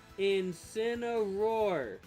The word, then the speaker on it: Incineroar: It's Incineroar.